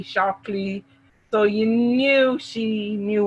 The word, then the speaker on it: Shaklee: seen that before and normally they pronounce it shakily shockley so you knew she